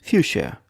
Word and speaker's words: fuchsia: Today's word is fuchsia. Fuchsia. 2 syllables.